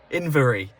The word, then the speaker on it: Inveraray: I've just done one of them how to pronounce things into Google for Inveraray, and it's actually Inveraray.